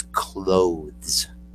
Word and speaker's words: clothes: was the other so in the morning you put on your clothes clothes it's spelled like cloth except you put an e and an s and it's clothes okay a lot of